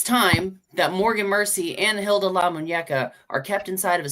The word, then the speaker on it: Hilda La Muñeca: Oh, this is Hilda La Muñeca.